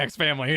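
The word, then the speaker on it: Spy×Family: Said, for maximum chat rage, you should pronounce the X in Spy X Family as cross, like Street Fighter Cross Tekken.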